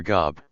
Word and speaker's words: Gob: or gob pronounced like the biblical job is the opposite of his heroic namesake.